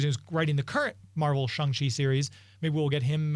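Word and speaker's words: Shang-Chi: these yeah we'll do uh i'm going to pronounce this wrong the shung chai movie is that coming up next so close oh shangshi hopefully they teach me during the movie how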